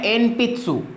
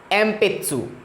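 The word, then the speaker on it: 鉛筆: फिर आता है पेंसिल को बोलेंगे एन, देखो लिखा है एन पित्सु, पर इसको प्रोनाउंस करेंगे हम एम पित्सु, एम पित्सु, ठीक है।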